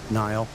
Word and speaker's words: Niall: Who was right about that one, Niall? Shall we, it's pronounced Neil. It's Neil.